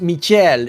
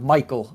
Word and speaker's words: Michel: I talked with their manager and uh he said everyone mispronounces his name because it's supposed to be pronounced Michel instead of Michael.